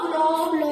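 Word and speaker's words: flour: इसका मतलब तो आटा, उसका उच्चारण होगा फ्लावर। इसका भी सेम होगा फ्लावर, ठीक है। इस सेम दोनों का उच्चारण एक जैसा होगा, लेकिन अर्थ अलग है।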